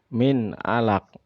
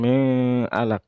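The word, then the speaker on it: مِنْ عَلَقٍ: tidak boleh didengungkan ya Min Alaq enggak boleh dibaca dong Mi alat enggak tetapi Nun ketemuin harus dibaca jelas karena itu adalah huruf Izhar Hai Min Alaq ya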